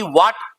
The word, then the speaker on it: what: जैसे WHAT वाट, वाट नहीं, right pronunciation है वॉट, वॉट। इफेक्टिव प्रोनाउंसिएशन क्या हुआ वॉट।